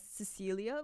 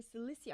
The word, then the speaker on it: Silicia: This is Silicia, I've always read your name as Cecilia or Silia, but I've just realized it's just I've just clocked in that it's actually Silicia.